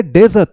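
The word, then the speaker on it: dessert: इसकी प्रोनाउंसिएशन भी बहुत लोग गलत करते हैं, इसकी ज्यादा करते हैं, वो इससे मैच कर देते हैं। ये डेजर्ट है, डेजर्ट, डेजर्ट, और ये क्या है?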